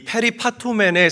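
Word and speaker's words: περιπατῶμεν: 자, 저기 빨갛게 칠해 놓은 행하면이라는이 단어는 헬라어로 페리파토맨이라고 읽고 발음합니다.이 페리파토맨의 사전적인 의미는 근처에 있다.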